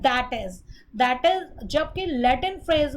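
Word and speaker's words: i.e.: इसी तरह आई period dot आई period ई period अगर आता है तो इसको हम प्रोनाउंस करते हैं दैट इज।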